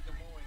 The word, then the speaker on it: Des Moines: Versailles, Illinois is how they pronounced it growing up too, not Versailles. We do say Des Moines, though, instead of Des Moines.